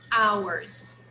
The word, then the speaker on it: our: Ours. Okay? Ours. So the same pronunciation when I say the word our or our is the when I pronounce the possessive adjective.